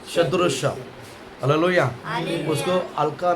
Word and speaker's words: सदृश: Pronunciation बरोबर आ रहा है, सदृश।